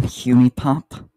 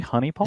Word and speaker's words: Honey Pop: Is no one going to call him out on definitely- saying Hunipop? Is it just me? Is it really Honeypop? Is it- I don't know how to say it. It's Honey Pop.